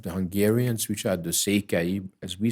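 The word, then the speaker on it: Székely: special part of the Hungarians which are the sea as we say in in Hungarian uh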